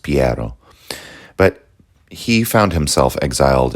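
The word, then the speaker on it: Piero: the ocean blue uh Piro was the next Medici to take the reins of power or I guess his name would have been pronounced piaro but he found himself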